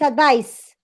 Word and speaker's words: advice: that yes yes good so the verb it's advised and the noun needs advice right yes yes you